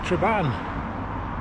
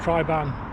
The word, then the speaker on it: Triban: moment i'm currently on the traban triban i got told off in an earlier vlog about how i was pronouncing it i'm on the uh